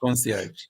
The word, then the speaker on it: concierge: one no uh concierge so you'd pronounce it to Frenchy yeah that's right I know no problem you know you need to mispronounce that then you pronounce it concierge yeah that's right that's